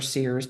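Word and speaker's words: SIRS: Uh, again, the SERS or Sears depending on people's uh pronunciation of choice.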